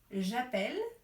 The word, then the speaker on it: appelle: vous avez bien entendu il ya une différence de prononciation entre j'appelle et nous appelons la première fois c'est j'appelle et j'entends le e qui chante et et la deuxième